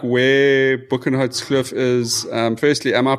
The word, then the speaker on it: Boekenhoutskloof: Um, Linden, just like just just outline a little bit like where Bookenhot Cliff is. Um, firstly, am I pronouncing it correctly?